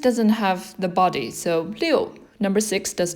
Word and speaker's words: 六: left and another dot this one's pronounced as leo if you look at